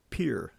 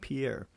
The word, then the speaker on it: Pierre: state capital of South Dakota it's p uh Pier not Pierre uh and that's your little history lesson for